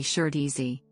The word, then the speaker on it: Shih Tzu: The Mandarin Chinese pronunciation is approximately shirtzy.